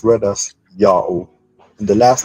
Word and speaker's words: Yao: His name is pronounced Yao, but to write in another way is to spell it as Y-A-O-H, still read Yao.